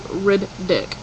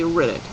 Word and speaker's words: Riddick: And like when I pronounce it, I don't say Riddick. I say Riddick. So I'm putting more of an emphasis on the ick ending of it.